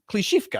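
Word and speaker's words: Klishchiivka: One is Andriivka, and the other is it Klishivka? Klishivka, I did pronounce it correctly.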